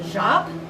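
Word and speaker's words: tjap: a carved wooden stamp it's called a jop it's spelled t-j-a-p okay or sometimes this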